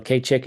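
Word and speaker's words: skad cig: vague from there no K chick is um spelled differently it's spelled SK a d all right K chick so anything that lasts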